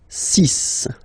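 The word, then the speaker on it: six: And be careful here, because even if it's ending with this X, well, you'll have to pronounce it like S. Okay? So you get the 6 pronunciation.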